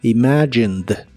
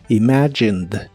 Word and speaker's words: imagined: la forma del presente solo que ahora termina con e d aunque no pronuncias la e solamente la d imagined imagined en el pasado la